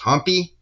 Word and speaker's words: Hampi: I'd like to show you here an image of Virupaksha Temple in, I think it's pronounced Hampi, in Karnataka, southern India.